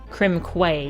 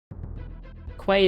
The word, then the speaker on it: Quay: Quay is pronounced K, is it?